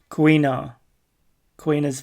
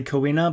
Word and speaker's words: Kuina: Kuina's Vow. Okay, I just want to hear the right pronunciation of her name. It looks like I was gonna say Kuina, but it's Kuina.